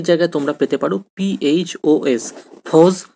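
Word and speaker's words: φῶς: ফস কথাটির অর্থ কি? অনেক জায়গায় তোমরা পেতে পারো PHOS, ফস বা ফস।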